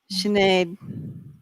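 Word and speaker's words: Sinéad: Oh, we're pronouncing it wrong. Oh, Oh my gosh, Sinead. she's Irish. Oh, like Sinead O'Connor. I'm sure you get that a lot. oh my goodness. Sinead, thank you.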